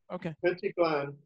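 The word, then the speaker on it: Pentti Glan: And if it's not Schwartzberg, it's Pentiglan. And how do you pronounce his name correctly from a close friend of his? I never. No, that's exactly right. Pentiglan.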